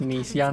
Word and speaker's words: Nice: special always telling you it's pronounced nice that's why i'm that's why i just said those nice or nice biscuits because i want to pronounce it nice because it's it's n-i-c-e and it's a nice biscuit but i want to